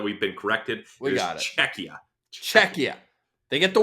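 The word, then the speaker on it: Czechia: it was so bad I was saying chechia which is I think that's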